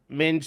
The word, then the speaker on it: minge: What's I think I know, but what is minge slang for? Yeah. Like a taint? Or vagina? In Commonwealth English, minge rhymes with singe is a vulgar term for the female genitals or pubic hair.